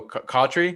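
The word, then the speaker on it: Cotchery: And then you guys also had, I want to say you guys had Durant mentioned earlier, Jericho Cautry. Is that how you pronounce his last name?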